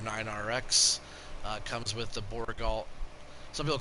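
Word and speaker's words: Bourgault: Some people call it the Borgo, but it all depends on where you're from, right?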